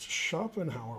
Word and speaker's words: Schopenhauer: here yeah story yeah exactly okay um it's pronounced schopenhauer wow cool that is a good pronunciation okay